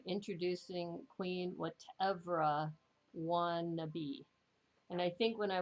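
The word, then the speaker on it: Watevra Wa'Nabi: I didn't realize it was whatever I want to be is kind of how it, and let me see, let me show you the cover.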